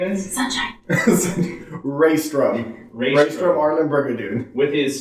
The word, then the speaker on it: Reistrom: a little interesting going back and forth with pronunciation. Would you please tell us who your character's name is? Sunshine. Reistrom.